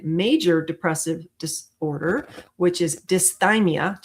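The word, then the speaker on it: dysthymia: By the end of this you're going to be able to differentiate between major depressive disorder which is dimeia just think of your thigh to pronounce that right which some of you might know as persistent depressive disorder and adjustment disorder.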